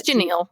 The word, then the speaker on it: Janelle: So, they all arrive at the ranch and um and Janelle is telling uh Cody's mom, Janal, I don't know how her name is pronounced exactly. It's Janal. Janal is um telling a story about how she and Wyn were both raised in Levelvel.